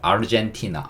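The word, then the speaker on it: Argentina: 이라 고 발음 하는 반면 영어 는 " 아르젠 " 이라 고 발음 합니다 . 맞아 요 , 'hen' 이 'jen' 으로 바뀌니까 아르젠티나 , 아르젠티나 처럼 'hen' 을 'jen' 으로 바꾸기 만 하면 발음 이 비슷해 요 . 아르헨티나가 아니라 젠티나 입니다 .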